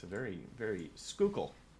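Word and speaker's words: Schuylkill: been through there um it's a very very skookul skookul that's how you say that area there um M yeah it's spelled s u l y u y l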